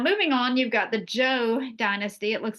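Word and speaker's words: Zhou: Now moving on, you've got the Joe dynasty. It looks like Zho, that's pronounced Joe.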